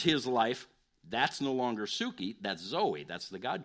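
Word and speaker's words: ψυχή: is to be dead to my psyche or Suki is the actual Greek pronunciation it's the word life in Matthew 16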